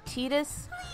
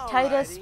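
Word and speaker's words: Tidus: lead based name and I pronounce it titas I used to pronounce it Titus but since both dissidia and Kingdom Hearts II Conley's etos I figure that's the closest thing to a cannon determination that we're ever going to get also he's signing in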